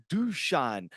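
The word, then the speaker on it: Dušan: to correct you but imagine your UV star boys name is duchan to get the right pronunciation keep up the killer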